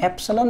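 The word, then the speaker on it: epsilon: ये भैया ये क्या है ये इसको ना इप्सिलोन एक्चुअली ऐसे देखो स्पेलिंग इसका ऐप से लोन बोलते हैं एफसी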